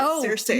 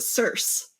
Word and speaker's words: Circe: And I did figure out I was mispronouncing her grandmother's name because I was pronouncing it Cersei. Me too. And they pronounce it Circe.